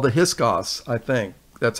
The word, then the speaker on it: Hyksos: They were called the Hyksos, I think. That's how you pronounce it.